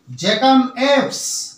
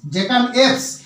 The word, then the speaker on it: jackanapes: এর ইংরেজি হবে জ্যাকাম এপস। দেখে নাও, বানানটা দেখে নাও, JACKANAPES, জ্যাকাম এপস।